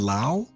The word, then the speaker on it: Lau: end of July Brown Brandon pronounces his name like lousy oh really Brandon Lau is that how you pronounce it Brandon Lau and